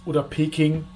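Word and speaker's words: Beijing: Theoretically, an example where it doesn't work out like "Paris" or "Peking" which are actually "Paris" & "Běijīng" .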